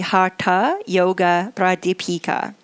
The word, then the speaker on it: Hatha Yoga Pradipika: a text called the hatha yoga pradipika that's the Americanized version of my pronunciation of it more correctly it would be the hata yoga bride Deepika and that was it